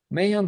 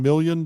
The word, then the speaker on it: Mayan: paintings, it is mostly Mayan dark blue with Piemontite genuine. So I can even use it now. Can you spell that? Are you saying million dark blue? Mayan, like the Mayans, the M-Y-A-N?